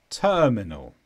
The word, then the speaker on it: terminal: and number 10 terminal here the stress is on the first sound a ter terminal this could be an